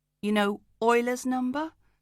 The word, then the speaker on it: Euler: Then E, you know, Euler's number, spelt with an E, pronounced like oil.